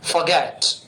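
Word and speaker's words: forget: में परफेक्ट बनना फॉरगेट ध्यान दीजिए इसमें आर को साइलेंट कंडीशन में बोला जाता है हल्का सा फॉरगेट फॉरगेट यानी भूलना फॉरगॉट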